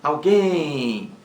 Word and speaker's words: alguém: e acima temos alguém alguém leva acento gráfico porque é uma palavra oxítona alguém alguém acendeu mais forte a última o e leva acento gráfico porque é oxítona terminada em m alguém alguém oxítona terminada